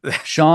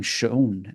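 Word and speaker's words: shone: why not sha and Shon is another one I'm always surprised when I hear on audiobooks saying Shon and you say Shawn for s h o n e yeah I always have said sha my entire life I've never and it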